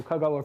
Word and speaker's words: Kagawa: So, Kagawa prefecture, uh Kagawa is uh it's name of a place and it's uh got accent on its first syllable.